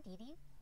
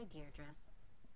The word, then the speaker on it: Deirdre: Hi, Dei. Dear Dra, I know it's got that tricky second syllable, but I figured it out by age, too. Don't give up. You'll get there. Sorry. Hi, Dearra.